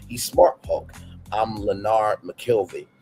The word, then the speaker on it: McKelvey: I'm Leonard McKelvey. He adds to his real name, emphasizing the second syllable of his last name.